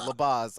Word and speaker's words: LaBaze: you say your last name so i don't labas okay so labaz on on the uh